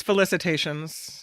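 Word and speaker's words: félicitations: Thompson announ oh it is uh it's felicitations yeah felicit felic is that what you had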